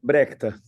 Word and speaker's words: Brecht: I'm not even gonna try to pronounce his name, so could you give us how the pronunciation of No Brecht? idea. Brecht.